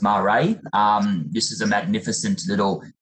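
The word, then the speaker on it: Maré: This is Marae, it's pronounced Marae.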